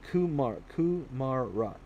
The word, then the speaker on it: kumara: Kumara.